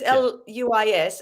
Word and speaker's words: Luis: It's spelt the same as that, but it's Louise with a Z. But it's Luis, and he's from South America.